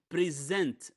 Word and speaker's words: present: Now, when we use a two-syllable word as both a verb or a noun, we change the syllable stress, okay? If it's a noun, we the first syllable stressed. For example, present, for example. Here, present, it's a verb. The second syllable is stressed. So again, present, here present. It's not the same pronunciation.